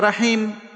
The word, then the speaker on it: রহিম: জবর মানে আকার কিন্তু র জবর রা নয় র জবর র তাহলে রহিম না রাহিম রহিম হবে।